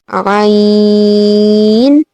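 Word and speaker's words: عين: Now Ain is also one of the throated letters. So these letters which you pronounce from your throat are said to be throated letters.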